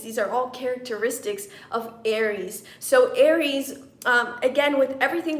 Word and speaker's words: Eris: Actually, Aries, and it's spelled E-R-I-S, Aries is actually, her diameter is actually 1,444 miles in diameter.